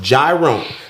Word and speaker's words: Jerome: How many times I got to tell you it is pronounced Gyro? Like the gyro?